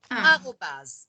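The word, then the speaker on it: arobase: Il n'y a rien qui s'écrit comme on le prononce. Mais c'est A-R-O-B-A-S-E. Arrobase.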